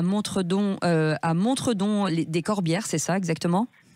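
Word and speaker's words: Montredon-des-Corbières: Vous êtes à Narbonne et à Montredon, des Corbières, c'est ça exactement ? C'est ça, ça se prononce Montredon des Corbières.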